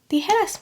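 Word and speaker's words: tijeras: a j in it so how do you think this word is pronounced is it djas or the headass mhm the headass mov in scissors are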